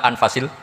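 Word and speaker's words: أنفس: saja di sini ditulis anfusil kutub saya baca anfasil kutub karena maknanya kitab ter baik Kalau kitab terbaik bacanya bukan anfus tapi apa anfas ya nanti kamu debat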